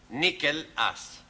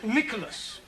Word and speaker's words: Nicholas: It's pronounced Nicholas. It's all right. Once upon a time, there was a man called Nicholas. He was a postman.